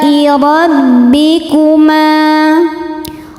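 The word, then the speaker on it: رَبِّكُمَا: Alai rabbikuma. Ro dibaca tafkhim karena berharokat fathah, maka dibacanya tebal. Rabbikuma.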